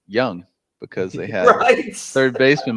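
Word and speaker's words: Jung: I thought it was fitting that the Rangers won the World Series this year with a third baseman whose name is pronounced Young, because they had third baseman Michael Young for so many.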